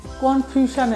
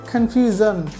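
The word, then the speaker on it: confusion: কনফিউশানে আছি আপনি আমি আমরা বলি না কনফিউশানে আছি সেটা এখানে উচ্চারণ হবে কনফিউজন কনফিউজন আম ইন কনফিউজন আমি কনফিউশানে আছি আমরা প্রায় স্টুডেন্টদেরকে শুনি বলতে যে কনফিউশানে আছি কনফিউশান অনেক ভুল আমরা বলি এটা হবে কনফিউজন তারপর হচ্ছে ডিসিশন আমরা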